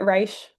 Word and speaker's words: Reich: Uh we pronounce it Rish.